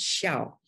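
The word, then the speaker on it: 孝: concept of filial piety the word in mandarin is pronounced shall knows in a way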